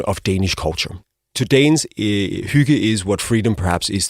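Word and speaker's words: hygge: So it's pronounced huga.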